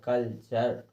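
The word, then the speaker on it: culture: पढ़ रहे हैं कि अगर शब्द के अंत में यू आर ई दिया हो, तो हमें उस यू आर ई को अर लगा के, अर का उच्चारण करके हमें उस शब्द को पढ़ना है। जिस प्रकार से हमने इसको पढ़ा है कि कल्चर, देखिए इसमें कल्चर, चर में अर सुनाई दे रहा है कि नहीं,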